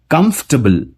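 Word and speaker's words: comfortable: इसमें ओ बोलने का जो टाइम होता है वो मिलता ही नहीं, ये जल्दी से प्रोनाउंस हो जाता है, ये होता है कंफर्टेबल।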